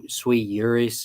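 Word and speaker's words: sui iuris: uh I think it's sweet yuris is how you say it in Latin that they're in Union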